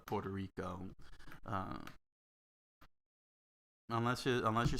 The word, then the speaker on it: Puerto Rico: e puerto rico you're pronouncing the u and the e that's uh because you're going by the spelling but uh but that's not how well we normally pronounce uh puerto rico uh unless you unless